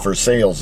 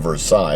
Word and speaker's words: Versailles: We see it's it's confusing in Indiana because sometimes it's well, it's for sales Indiana instead of Versailles, although it's spelled Versailles.